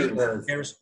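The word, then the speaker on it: Eerez: Erez.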